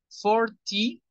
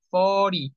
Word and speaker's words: forty: 40 se puede decir Forty pronunciación británica fortnite pronunciación estadounidense fori como si no estuviera la t el 50 Fifty nada